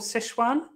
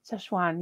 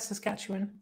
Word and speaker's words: Sichuan: of Chinese cuisine called Sichuan Sichuan yeah I I used to know someone who would pronounce that Saskatchewan oh really we could